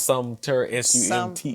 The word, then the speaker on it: Sumter: It's Sumter, Sumter.